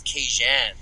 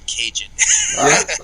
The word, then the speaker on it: Kajan: So my actual name pronunciation is Kajan. Kajan? Yeah, much more like smooth and cool than Cajun.